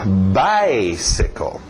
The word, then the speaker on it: bicycle: Importante bater no by. Depois nós veremos porquê, mas mantenha o ritmo do inglês. Lembra, o português tem o seu ritmo, o inglês tem o seu. Então, bicycle. Morre no final.